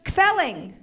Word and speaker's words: kvelling: to turn and go, oh, my parents are kvelling.